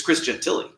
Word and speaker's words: Christian Tilley: correctly because it doesn't it's not pronounced like it looks it's Christian Tilly how are you Chris